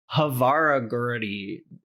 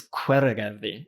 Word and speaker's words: Hveragerði: So there's a town outside of Reykjavik called Hveragerði, but it starts with an H. So like you'll kind of lose people if you're like, where's Havaragurdi? It's Hveragerði. So it's tricky, but you